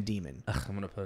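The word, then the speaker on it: dæmon: Like, I feel like it should be pronounced Damon because it's got the like the A-E, which that's the symbol for A. Is that why I'm doing that? Damon. Because they don't say demon. They're saying demon.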